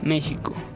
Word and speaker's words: México: En la voz náhuatl, para México, actualmente se escucha México, es decir, la X se pronunciaría como sh.